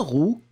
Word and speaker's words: roux: Une roue, un roux, eh bien, on les prononce de la même façon.